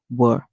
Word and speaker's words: were: w the E says the e at the end is silent so our word is w remember in English a lot of times we hear the E say but in this case we hear w were and this is